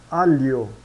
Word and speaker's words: aglio: O gli e o gle são pronunciados como li ou lie. Por exemplo, aglio, pronunciamos alio, alio.